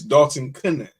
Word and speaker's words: Dalton Knecht: And I apologize that I mispronounced his name wrong, but it's Dalton Knecht.